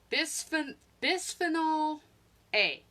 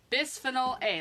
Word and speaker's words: bisphenol A: say it wrong but it's called by bisphenol A bisphenol A like B is Phe NOL a it is a bicarbonate